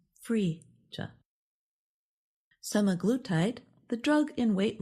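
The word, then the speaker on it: Phryge: Frisia, the mascot of the Paris Olympics, is pronounced Frisia.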